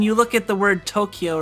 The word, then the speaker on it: Tokyo: Oh, so Tokyo, like, you know, is spelled T-O-K-Y-O, but like that spelling would normally indicate a short vowel, so like Tokyo, but it's actually Tokyo. It's To-U-Kyo-U, not Tokyo.